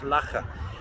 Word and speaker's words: Loughor: It's called Loughor Castle, Loughor, pronounced Loughor.